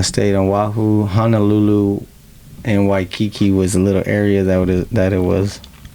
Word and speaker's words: Waikiki: So Waikiki.